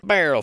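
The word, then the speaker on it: Beierle: Barrel Farm. Barrel Farm. You pronounce it. You do it. B-E-I-E-R-L-E. Barrel Farm. Barely a farm.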